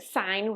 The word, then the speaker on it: sine: now they have abbreviations sine is written as sin really but that's pronounced sine with a long i cosine is just written